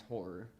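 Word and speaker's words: Ho99o9: They're It's HO9909. It's horror, is what it is. That's what their like band name is, but they spell it with nines instead of R's.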